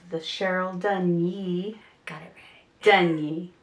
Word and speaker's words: Dunye: Got it Dunye. Dunye. Which would make sense by the way it's spelled.